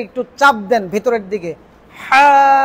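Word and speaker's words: ح: হা, ভেতরের যে গলার কণ্ঠনালীটা, এটা গলার পেছন সাইডে একটু চাপ দিয়ে হা বলেন।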